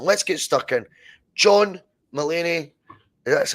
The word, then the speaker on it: Mulaney: John Mulaney. That's how you pronounce it. How would you pronounce that surname? Mulaney. Aye. Yeah, it is Mulaney, aye.